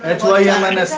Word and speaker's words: hymns: HYMNS हिम्स। हाँ वो पूजा होती है। So, what is the spelling? Hymns? HYMNS Y silent होती है। हिम्स HYMNS।